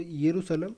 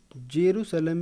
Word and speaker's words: यरूशलेम: अगला आपका Israel, Israel को यरूशलेम या इसको जेरूसलम भी कभी कभी बोल दिया जाता है, तो दोनों ही ठीक है, ठीक है, वो प्रोनाउंसिएशन की बात है, यरूशलेम या जेरूसलम।